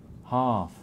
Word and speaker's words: half: Half. Half. Heart. Heart. How do you pronounce this L? I wouldn't pronounce it. Good. And the A half is pronounced R, as in car.